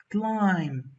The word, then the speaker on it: climb: our well done climb climb the silent letter s huh it's the B let's go one complete